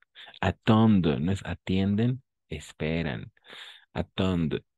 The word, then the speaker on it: attendent: Attendent. ENT à la fin, on ne le prononce jamais.